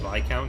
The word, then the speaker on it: viscount: I get people trying to correct me on my pronunciation of Viscount sometimes, saying, actually it's Viscount. It's like, only in the States.